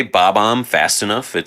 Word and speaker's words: Bob-omb: B-O-B hyphen O-M-B. Bob-omb. Bob-omb.